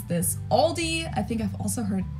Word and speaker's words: Aldi: heard Aldi before but I think most people say Aldi or they also sometimes add an s that isn't there in the end and say Alis in Germany we just say Aldi it has its origins